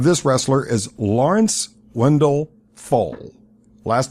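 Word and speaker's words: Pfohl: The real name of this wrestler is Lawrence Wendell Fohl. Last name is spelled P-F-O-H-L. What was it? Name one more time? Lawrence Wendell Fohl. I think it's how it's pronounced. It's spelled P-F-O-H-L.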